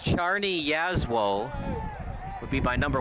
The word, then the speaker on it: Czarni Jasło: And according to Recruit Links, it's pronounced Czarni Jasło would be my number 1 star.